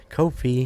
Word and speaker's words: Ko-fi: is on Kofi Kofi I always want to say cof cof Kofi how you spell that